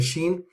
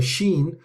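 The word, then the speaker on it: ش: However, when you are pronouncing the sheen, it's a much fuller sh sound. So when you say ashhadu is different to she. She is very light, but ashhadu is fuller.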